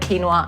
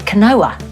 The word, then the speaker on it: quinoa: I thought we'd use Rovi to protein red quinoa and sesame for this recipe yes that is how you pronounce that word quinoa because potatoes I was calling it Kanoa until somebody sort pointed out and I was